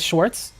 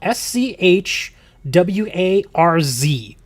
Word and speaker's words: Schwarz: Walker, there's no T. Yeah, there is no T in this. It's spelled S C H W A R Z Vice Wars. Use the Schwarz. But yeah, Wooker, there's no T in this. Or does it just have the T sound?